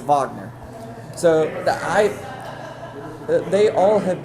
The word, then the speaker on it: Wagner: Uh, and the last one from the Orlando Magic, France Vagner, I believe, is how you say his name. It says Wagner, but I think he's French, so it's a Vagner.